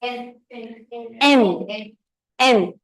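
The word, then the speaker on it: 円: Japanese currency or Yen they pronounce it as n n they say 10 J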